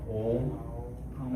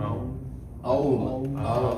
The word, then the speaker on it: Aum: There are 18 different ways of saying it. 18. What are those that you know at least chanted differently? I only know Om and Aum.